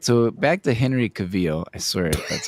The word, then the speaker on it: Henry Cavill: So, back to Henry Cavil. I swear that's how you pronounce it.